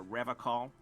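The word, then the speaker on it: Revachol: to stay strong for rev call Rev call his gaze shifts to the pile of soy logs at his feet he pronounces Revol with a hard K unlike other people serious question time this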